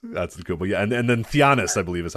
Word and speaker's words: Giannis: And then Giannis, I believe, is how you pronounce this one. Or I think it's Giannis.